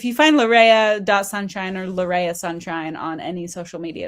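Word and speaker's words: Larrea: The botist will say it's Lauria Tridenta, but Laora is the way that my parents pronounced it.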